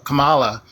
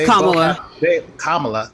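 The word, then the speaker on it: Kamala: Ironclad on both sides whether it's Trump or Camala it's kamla they both have to back Ironclad and you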